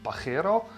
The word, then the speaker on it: Pajero: Spain and that's because it's actually pronounced by hero epic hero means dick so not suitable for